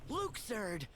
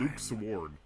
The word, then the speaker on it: Luxord: I still can't get over the fact that that's how it's pronounced. You do know how to make good time. Luke Sword. Yes. Like the guy who sung the Dire Dog song.